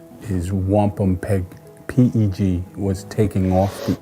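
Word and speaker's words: wampumpeag: The true Algonquin pronunciation is wampum peg.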